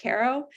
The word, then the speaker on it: Cairo: Cairo, Illinois, which is spelled like Cairo, but pronounced apparently like Caro, a town in southern